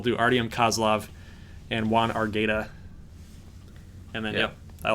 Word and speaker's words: Argueta: So Juan's creator is saying it is Argueta. Okay, yeah. Argueta, not Argueta.